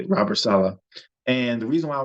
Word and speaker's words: Robert Saleh: That's how you say it, Robert Saleh.